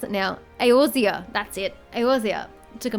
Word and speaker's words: Eorzea: I can't remember how to pronounce it now. Eorzea, that's it.